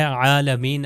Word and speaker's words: عالمین: ہے اگلا جو ہے عالمین، عین کا تلفظ جو ہے وہ صحیح طریقے سے ہونا چاہیے۔ عین یعنی یہی